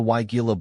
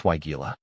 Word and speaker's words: Weigela: The way I've gotten it to stick in my head is to break it down into two parts. Why like in why not, and Gila, like saying, gee, look at those pretty flowers.